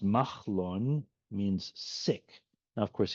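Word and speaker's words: Mahlon: Malon, pronounced Machlon, means sick.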